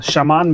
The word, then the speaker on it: Shaman: I said Edgerati, because if I'm going to insist on Shaman being pronounced as Yakutians do, I should also insist to pronounce Edgerati the way Italians pronounce Maserati.